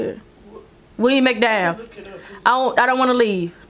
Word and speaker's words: McDowell: William McDowell.